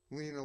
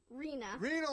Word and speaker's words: Rena: to have interview you, Lena. Rena, sorry.